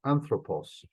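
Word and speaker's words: ἄνθρωπος: In the case of anthropos, the accent is always going to try to get back to that first syllable.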